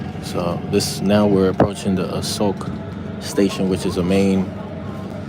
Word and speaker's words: Asok: They say Asok, like without the K. I wonder if I'm saying it wrong. I probably am. Asok.